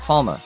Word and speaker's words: Palme: Limitless says Palme is German, so I'd assume the name is based on the German word for palm tree, and it would be pronounced Palma.